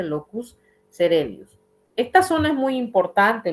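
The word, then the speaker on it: locus coeruleus: con el locus celius se escribe locus cueli No pero se dice locus celius esta zona es muy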